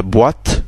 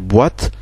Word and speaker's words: boîte: côté de l'autre, qui, comme le mot français, par exemple, boîte, pour dire boîte, avec le O et le O à côté du I, ils forment le mot wa. Donc on n'écrit pas boîte, B-O-A-T-E, comme on l'entendrait, mais O-I.